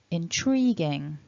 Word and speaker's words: intriguing: together then we've got remember stress syllable 2 intriguing intriguing intriguing and